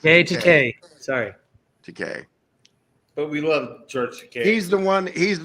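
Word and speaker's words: Takei: a big deal like when you say his name it rhymes with gay it's GK sorry TK but we love George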